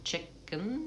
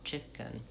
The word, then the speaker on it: chicken: And second syllable is either just a salabic n chicken where you just really close to the n. Don't use a lot of vowel there. Or it would be a reduced vowel. Either the i vowel or the vowelwah chicken.